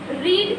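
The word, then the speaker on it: read: रीड रेड रेड रेड बट the spelling is same.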